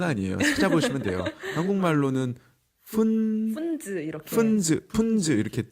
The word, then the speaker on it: Pfunds: 이름이 좀 발음이 좀 어렵잖아요. 이름이 그렇게 중요한 건 아니에요. 찾아보시면 돼요. 한국말로는 푼즈 이렇게.